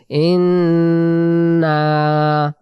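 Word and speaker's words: إِنَّا: টান দিব না উচ্চারণ ইন্না প্রথমে গুন্না ইন্ পরে না বলে টান না তাহলে কিভাবে বলব ই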